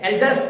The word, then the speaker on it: Alsace: ठीक है, एल्जास and Lauren, ये दो शहर हैं। एल्जास अगर देखा जाए तो सही तो प्रोनाउंसिएशन की एल्जास, क्या बोलते हैं इसको, एल्जास एंड लॉरेन।